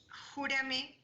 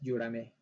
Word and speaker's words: Yurame: Júrame o Yuram. ¿cómo se pronuncia? Presente, profa, es Yurame.